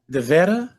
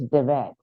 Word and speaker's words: Davette: Is it Davetta? No, it's Davette. Davette. It's the it's the What? girl version of David. Okay, The E Davette. is silent at the end.